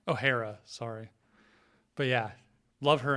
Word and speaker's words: O'Hara: oare yeah right I say her name right O'Hara ohhara sorry but yeah love her and uh another